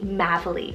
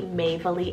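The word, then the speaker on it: Mavalie: meaning pathway then I have madeley spell m-a-v-a-l-i-e madeley or it could be maybelly as well this one was a gorgeous one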